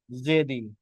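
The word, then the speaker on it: Djedi: River शेलिफ और दूसरी है जिसका नाम है river जेदी। डी जे ई आई डी D silent है जेबी रिवर यहां पर अल्जीरिया की एक इंपॉर्टेंट रिवर्स में से एक है।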